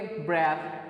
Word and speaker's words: breath: ब्रेथ, जो BREATH है इसको हम प्रोनाउंस करेंगे ब्रेथ, एंड देन जो दूसरा वर्ड है जिस BREATHE उसको हम प्रोनाउंस करेंगे ब्रीथ।